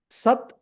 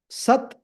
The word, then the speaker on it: sat: let us look at them the words are sat chit and Ananda sat chit and Ananda H so this one sat